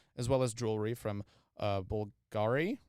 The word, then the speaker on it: Bulgari: It is festooned with red, white, pink, and black diamonds, as well as jewelry from Bulgari, right? Is that how you say it? Right? Bulgari? Bulgaria? Bulgari, like the brand.